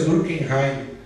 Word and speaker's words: Durkheim: Pronúncia Durkheim.